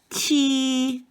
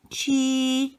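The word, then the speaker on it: 七: is number seven and it's pronounced chi and it's accent number one chi also number eight has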